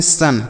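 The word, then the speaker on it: sun: अगला शब्द है एस यू एन। इसे हम पढ़ते हैं सन। क्या पढ़ते हैं? सन। और एस ओ एन इसे भी हम सन पढ़ेंगे।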